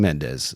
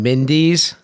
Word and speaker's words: Mendes: for in this instance Sam Mendes is the right way to say it I saw an interview they were calling him Sam Mindy's and controversial well I